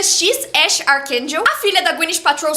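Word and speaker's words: X Æ A-12: Não dá para esquecer o nome do filho do Elon Musk, que é X AE a -1, mas que pronuncia X Ash Archakel.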